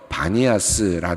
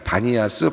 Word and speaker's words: 바니아스: 곳이다라고 해서 니아스 불렸는데 어 당시 아랍인들이 판이라고 피 발음을 잘 못해서 피를 비로 발음을 하면서 바니아스 이름으로 도시가 불려졌다고 합니다 나중에 헤롯 필립이